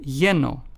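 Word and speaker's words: lleno: word yellow for instance let's take the words yeno which means full in Spanish is pronounced as yeno then we have the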